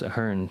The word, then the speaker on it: Ahearne: was directed by Joe Ahern. I think it's pronounced Ahern because that's how they say it on the commentary.